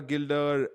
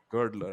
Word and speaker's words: Girdler: are here with Adriana Gilder and we're here with g gild g girdler I think that's a better pronunciation thank you for that